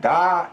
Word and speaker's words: だ: And then casually among your close friends or within your family, you may say da instead of des.